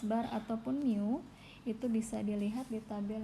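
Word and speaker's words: μ: Oke, ini bacanya mu ya. Saya tuliskan di slide, ini bacanya mu. Bukan tau, apalagi ada yang nyebutnya tau, itu salah ya. Yang benar itu adalah mu.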